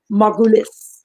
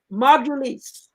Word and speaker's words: Margulis: story of Miss Lisa Margulis. I got it right. I pronounced it right. Good job. It took me a while, but I learned to do it. Margulis. Margulis, you got it.